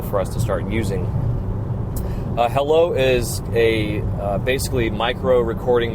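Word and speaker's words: Heilo: I wanted to close this out by introducing you guys to a new app coming out called Hello. It is spelled H-E-I-L-O.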